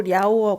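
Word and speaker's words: Liao: 강의 나는 강이 흐릅니다 이게 중국어 발음으로 리아 오어 강 이구요 이제 어 그 한 문을 그대로 읽으면 요하 라고 부르는데요 이요 하에 동쪽 요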